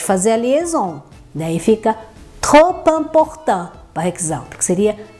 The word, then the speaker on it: trop: Ou fala mais aberto, mas a gente não pronuncia o P no final, a gente fala trop, ok?